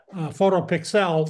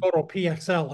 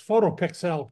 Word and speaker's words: Photo PXL: U uh the U photo pixel that's how you pronounce it not photo pxl it's photo pixel Kevin okay Jeff got